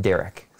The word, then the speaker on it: DÆrik: know how to pronounce it but we just pronounced derek yeah so and basically where that comes from